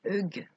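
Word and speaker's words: hygge: ou propose de vivre il fut prononcé heung grâce à la routine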